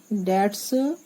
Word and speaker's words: debts: Our ancient scriptures say that ancient, ancient, scriptures scriptures say that each one of us has 3 debts to pay. DEBTS B silent रहता है, debts to pay.